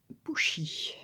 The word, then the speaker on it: pushi: communique avec nous alors ce petit félin se prononce pushi en algonquin donc et il nous